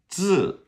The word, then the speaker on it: 字: So the Z is like a DZ. I'm going to drink of water. And ZI is pronounced 字. So it's like you start it with a D and then you go straight to the Z and 字.